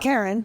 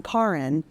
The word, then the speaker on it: Karin: So not Karen, although that's a great name. I'm Karin.